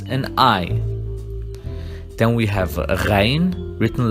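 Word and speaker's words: غين: Then we have Ghain, written like Ain but with the point, and we pronounce it Gh, like Ghazal, which means a deer.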